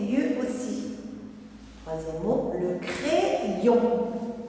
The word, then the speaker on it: crayon: Troisième mot, le crayon. Dans le mot crayon, le Y joue le rôle de deux I. Crayon. Le deuxième I va avec la deuxième syllabe.